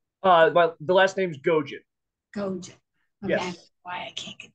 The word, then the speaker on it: Gojan: background for us I don't have one Sean uh or Gohan um Steuben's great guy GM tell me to pronounce it right again uh well the last name's gojin yes why I can't get that good morning